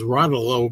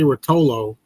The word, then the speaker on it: Rotolo: Anyway, by the way, I'm going to read this as Rotolo because I used to say Routollo and then I heard my whole life I was saying Susie Routollo and it turns out they don't it's pronounced Ralo.